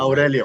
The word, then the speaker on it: Aurelio: I want to pronounce it. Aurelio.